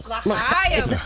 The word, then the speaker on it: L'Chaim: L'chaim.